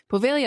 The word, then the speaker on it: Poveglia: the unexpected assistance with pronunciation because I just butchered the out of that but poia Island it is located in the vene Lagoon